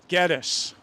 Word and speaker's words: Gettys: Tim, how'd you pronounce that? Gettis.